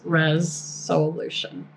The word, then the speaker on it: ReSOULution: It's like resolution spelled with s o u l. So when I talk about a res solution, that's what it is. It's res solution.